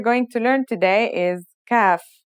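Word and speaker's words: كاف: to learn today is CF the CF is pronounced just like the English K here's how to write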